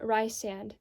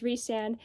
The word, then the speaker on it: Rhysand: I know in the back of the book it says the pronunciation is Rhysand, and I'm very sorry if there's anyone who happens to watch his video whose name is Rhysand. I will use the pronunciation Rhysand and Rhys for the character whose name is spelled Rhysand or RHYS.